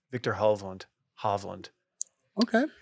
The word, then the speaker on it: Hovland: And Hov, I mean Hove. Victor Hovland. Hovland. Okay. It's confusing because I have to call him Hove, but it's Hovland. That's how they all pronounce it.